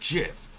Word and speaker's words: GIF: um the gif argument it's pronounced jiff like the peanut butter the creator said so and the other one